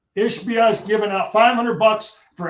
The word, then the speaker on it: Ishbia: You got Matt, big money, I don't know how to pronounce his last name, giving $500. How do you say it? Ishbia. Ishbia is giving out $500 for every football player on that team, and that matters.